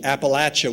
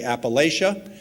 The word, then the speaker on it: Appalachia: it in the region Appalachia with the short a you're probably more inclined to say Appalachia and that's certainly fine but if you come down south you need to learn how to say it correctly president frost articulated this